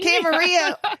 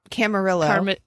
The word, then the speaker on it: Camarillo: why are you asking camarillo because it's got that it's like armadi dillo it's armadillo armadillo in mac spanish armadillo okay so let's go with armadill camarillo camarillo camarillo california oh